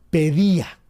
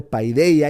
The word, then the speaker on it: paideia: En realidad los puristas no dirían paideia, sino pedía, que es pues la pronunciación griega, pero está bien, digamosle paidea.